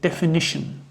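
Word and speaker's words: definition: Spelling सही जो है वो है डी ई एफ आई एन आई टी आई ओ एन डेफिनेशन। तो इस ए की जगह आपको आई लिखना है। इसमें तीन आय हैं।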